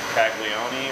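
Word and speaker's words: Calagione: Bones and I went to a little beer talk in Austin by Sam, I'm going to mispronounce his name, Caglione, or That's, wow, good pronunciation.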